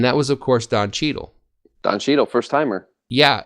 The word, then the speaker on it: Cheadle: yes because the word Cheadle itself it's fun to say Cheeto doesn't it fun totally it rhymes with needle which I have a